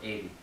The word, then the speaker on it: Eden: It's spelled Eden. So if you're thinking of praying, you can think Eden, but it's pronounced Aiden.